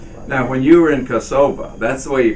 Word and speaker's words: Kosova: when you were in kosova that's the way you pronounce it she's she's Americanized it and says now because Americans say Kosovo but the correct pronunciation I'm told is kasova and so now we